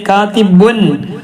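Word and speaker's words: كاتبٌ: തെൻവീൻ എന്ന് പറഞ്ഞപ്പോ കാതിബുൻ ഉച്ചാരണത്തിൽ നൂനാണ് വരുന്നത്. ബുൻ എന്നുള്ളത് എങ്ങനെ എഴുതുമ്പോ എങ്ങനെ എഴുതാ, ശരിക്കും എഴുതാണെങ്കിൽ എങ്ങനെ എഴുതാ, ബുൻ. അത് തെൻവീനിട്ടാലും നമ്മൾ ഉച്ചരിക്കലെങ്ങനെ പറയലെങ്ങനെ, ബുൻ അല്ലെ, ബുൻ. അപ്പൊ തെൻവീനാണ് നൂനാണ് വരുന്നത്.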